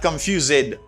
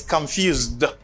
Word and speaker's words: confused: This ed pronounced as a d sound, not confused. No, no, no, no, no. It's confused. It's d sound.